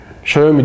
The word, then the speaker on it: Xiaomi: var 5 kişiye işte Xiaomi Xiaomi diye okunuyor bana böyle artislenen ben